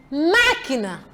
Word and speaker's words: máquina: Máquina. Vejam, leiam comigo. Máquina. Antepenúltima. Hóspede. Estão a ver? Os. A sílaba tônica.